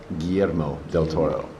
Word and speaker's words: Guillermo del Toro: Well, Guillermo del Toro.